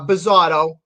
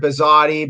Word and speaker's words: Bizzotto: i pronounce it right pretty close and i've heard worse uh bizado just i don't know an otto yeah but i've heard bizzotti bizzity so i appreciate that